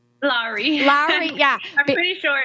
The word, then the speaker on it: Lowry: Lowry? Lowry, yeah.